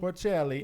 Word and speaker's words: Porcelli: Porcelli, Yes.